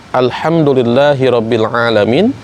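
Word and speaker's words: الحمد لله رب العالمين: Contoh misalkan ketika mengucapkan kalimat Alhamdulillahi Rabbil Alamin, harusnya dengan ha, ujungnya dengan ain, tapi ketika makhrajnya tidak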